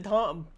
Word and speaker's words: Temps: the P is silent. The P and the S are silent. Tom, like Tom. like the person Tom.